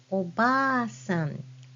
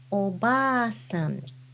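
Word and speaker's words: おばあさん: grandmother in Japanese, that's oba-san. Can you spell that word? Oba-san. It should be spelled like this. With double a sound, you use hiragana a after ba.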